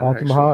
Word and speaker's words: Altamaha: So after those two, you got smallmouth, of course, shoal bass, Suwannee, red eye, Chattahoochee, Tallapoosa, Altamaha, or however they want to pronounce that. You said it right. Altamaha, actually.